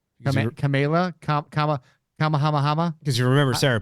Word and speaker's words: Kamala: I honestly don't know a lot about Harris, but I do know that, well, first I know how to pronounce her name. Kamala, Kamahama.